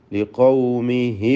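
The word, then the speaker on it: لقومه: യഥാർത്ഥത്തിൽ അവിടെ ഒരു മദ്ദുസ്സിലത്ത് സുഗ്റ നഷ്ടമാവുകയാണ്. കാരണം ശേഷമുള്ള അക്ഷരത്തിന് സുക്കൂൻ വരുന്നത് കൊണ്ട് ചേർത്തോതുമ്പോൾ ആ ഹായിന് ദീർഘമുണ്ടാവുകയില്ല. ഇൽത്തിഖാ സാക്കിനൈൻ വന്നതുകൊണ്ട് ലിഖൗമിഹി അഅ്ബുദു എന്ന വായിക്കേണ്ടത്. ലിഖൗമിഹി അഅ്ബുദു.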